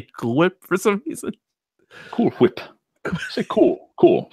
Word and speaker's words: Cool Whip: thing they do with Stewie doesn't pronounce cool hwhip the way we all do he puts emphasis on the H but as I say